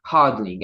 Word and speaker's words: hodling: And third is hodling, and just so you know, it's not a typo. It's spelled HODL.